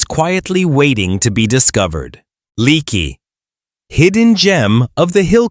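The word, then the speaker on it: Leakey: Pronounced lakey, this town of around 400 residents captures everything people dream of when they think of peaceful Texas mountain life.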